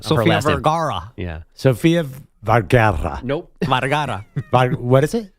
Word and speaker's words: Sofia Vergara: quick, my parents think Phil Dunphy hits on Sofia Vergara's character too much.